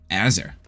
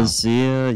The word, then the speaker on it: AZR: And then, speaking of, there's Abzer, then there's Azer. No. Azer? I don't know how to pronounce it, but. Yeah, the insta throw. AZR, yeah. AZR, yeah. No, Azir, yeah.